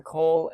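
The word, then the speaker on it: כֹּל: of a vowel change it goes from Cole as a a short o vowel to a u vowel C so Ki is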